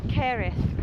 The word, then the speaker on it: Kerið: I think I'm pronouncing that wrong, but it is spelled weird. How is it? Kerið Crater. It's very windy, but it's very beautiful.